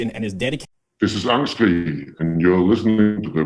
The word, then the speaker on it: Angstkrig: Angstkrig, so Angstkrig with a G at the end.